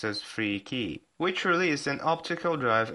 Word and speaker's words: 3K3Y: And here comes 3K3Y Company, obviously pronounced as Free Key, which released an optical drive emulator.